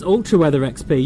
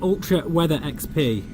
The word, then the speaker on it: Ultra Weather XP: ultimate or ultra weather maybe it's alter weather XP yeah you're quite right Andi sorry yeah it's ultra weather XP I'll try and remember to say that I'm I've been saying it wrong yeah no worries